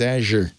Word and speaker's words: Azure: Well, now we know it's Azure.